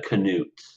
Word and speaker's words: Canute: we talking about yeah Canute so it's like canoe but Canute's gotcha um when it